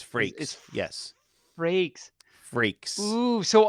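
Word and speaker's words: Frakes: and that is and it's freaks oh did I say Frank's like the like you did say Frank's like Franks and Beans but it's freaks yes breaks freaks ooh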